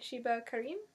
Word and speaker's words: Sheba Karim: So we went tonight, and I got That Thing We Call a Heart by Sheba Karim.